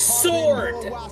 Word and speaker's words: sword: Sword! It is pronounced sword!